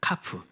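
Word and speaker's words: כף: 읽어볼까요 요드요 요드 요드네 11 번째는 카프 있니다 카프 따라해 볼까요 카프 카프 카프 예 요거는 이제 우리가 이제 손바닥이 있는데이 손바닥을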